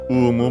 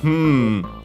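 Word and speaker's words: うむ: so here we can literally here written as umu but as you have heard Uh like a hm in English.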